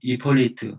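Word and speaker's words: Hippolyte: 그 중에 하나 이제 순교자 우리가 주목해서 봐야 될 사람이 있는데 성 이폴리트, 아마 이제 이게 H가 모음으로 이렇게 발음이 되는 것 같아요. 불어같이.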